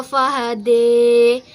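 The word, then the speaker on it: فهدى: Nah, kemudian pada ayat yang ketiga itu ada imalah pada lafaz qaddaro fahada. Maka membacanya itu berubah menjadi qoddar fahade.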